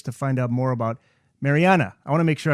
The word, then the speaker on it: Marianne: uh it's just that the norwegians pronounced that final e at the end but everyone who knows her everyone including leonard only called her mariana so as you got